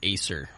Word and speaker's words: Acer: is his name was the dentist was David Acer, like the computer Acer.